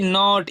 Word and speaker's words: note: जैसे आप यहाँ पे देख सकते हैं NOT, नॉट। इसे हम क्या पढ़ते हैं, नॉट। लेकिन यहाँ मैं ई लगा दूंगा तब इसका प्रोनाउंसिएशन चेंज हो जाएगा, वो कैसे, NOTE। इसे हम क्या पढ़ेंगे, नोट।